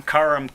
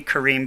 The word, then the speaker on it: Kareem: letting me speak tonight i'm karum it should be kareem but my mom pronounced it differently uh at any rate